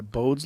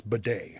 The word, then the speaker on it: Bode: what it is yes I think it's bidet I think that's how you say it b-o-d-e-s is that what it was just b-o-d-e b-o-d-e oh it's Bode yeah and I've only seen